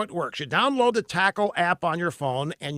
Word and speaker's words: Takl: It's called Tackle. It's spelled Takl.